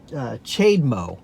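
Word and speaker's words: CHAdeMO: this one that's called the shade Moe or I've heard it pronounced a couple of different ways but it's capital CH a little de and then Capital mo and the reason they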